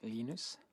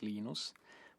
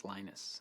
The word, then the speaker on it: Linus: Um, when I speak Swedish, it's Linus. When I speak Finnish, it's Linus. When I speak English, it's Lionus.